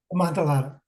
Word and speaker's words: Amontillado: Amontillado.